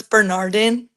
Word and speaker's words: Bernardin: I think a lot of people So it's Bernardin. Oh, it is. I was right. You were right. I was right. Yeah. We tell like I mean it's so funny because everyone it's Bernardine B all that stuff.